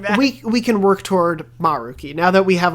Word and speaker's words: Maruki: And it's a discussion between her, a teacher, and Maruki, or as they all say in the scene, Maruki. They really emphasize the ma, so I don't know.